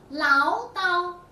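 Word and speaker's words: 唠叨: 这个词念作唠叨。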